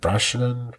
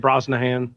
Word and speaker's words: Brosnahan: Was it Brosnan? Brosnan? Brosnahan. Brosnahan. Thank you.